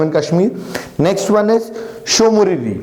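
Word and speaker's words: Tso Moriri: Next one इज शोमुरिरी, यार T silent यहाँ पे, शोमुरिरी again eight Jammu and Kashmir.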